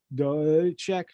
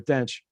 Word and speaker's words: Dench: How do you say that reporter's name? Just the reporter. What's that? Dench. Peter, I'm sorry. I apologize to Peter Dench. I wrote it down and then tried to pronounce it instead of listening.